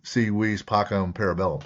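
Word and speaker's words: si vis pacem para bellum: So that CV, so it's the SI is pronounced like a C, the V's Mhm. are pronounced like W's. So C, V's, Pacum, Parabellum. So I love that.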